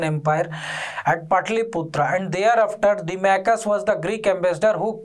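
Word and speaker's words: Deimachus: We pronounce it Dimachus, but write it Dimachus.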